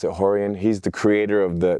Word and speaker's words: Rorion: And then my father is Rorion Gracie, they pronounce it Rorion.